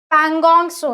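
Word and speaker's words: Pangong Tso: Next हम लिखते हैं पैंगसो, ये स्पेलिंग है, टी साइलेंट है, ठीक है, टी जो है वो आपका साइलेंट है, ठीक है। पैंगोंग सो है वो, पैंगोंग सो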